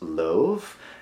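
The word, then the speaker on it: Lauv: I believe it's pronounced Love. L-A-U-V.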